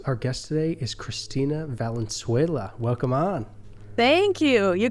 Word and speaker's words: Valenzuela: stories of Catholics Our Guest today is Christina Val vuela welcome on thank you you got that pronunciation perfect that's heck yeah so can you